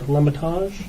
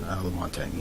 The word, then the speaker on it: Lamontagne: I have a letter from, I don't know how to pronounce it, Art Lematage, is that how you pronounce it? Lamontagne, yeah.